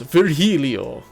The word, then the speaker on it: Virgilio: It's pronounced Virgilio.